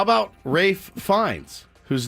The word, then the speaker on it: Ralph: How about Rafe Fiennes, whose name is spelled Ralph? My name is spelled Ralph, but I want you to call me Rafe. The L is silent. Rafe. And the A is long.